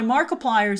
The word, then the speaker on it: Markiplier: Uh then on digital with Apple's charts, after getting spanked by Markiplier's Iron Lung, I think I got Markiplier pronounced right, right? I think it's like multiplier.